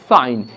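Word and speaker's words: sign: সাইলেন্ট তাই ফেন, এবং জি সাইলেন্ট রয়েছে বা নীরব রয়েছে তাই এটা উচ্চারণ হবে সাইন।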